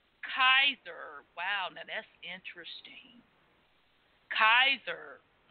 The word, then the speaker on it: Caesar: such as his funeral a Caesar probably pronounced Kaiser wow now that's interesting